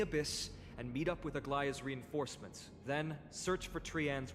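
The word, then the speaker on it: Aglaea: One group will stay in the abyss and meet up with Aglia's reinforcements, then search for Trianne's whereabouts. I was pronouncing it as a Agua for the longest time, which and honestly, she's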